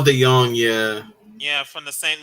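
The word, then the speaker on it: DeJong: uh Cardinals infield or Paul Dijon yeah pronounce that right Paul De Young Yeah Yeah from the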